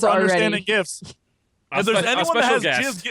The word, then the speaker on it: GIF: And I was like, well, the creator of the GIF says that it's pronounced GIF, so whatever. But let's be honest, GIF sounds so much better.